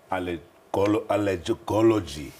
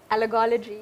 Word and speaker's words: allergology: Naidu has a special interest in allergies and holds a diploma in allergology, if I can say it. Welcome to Health Talk. Morning, Sally. How do you say that? Allergology.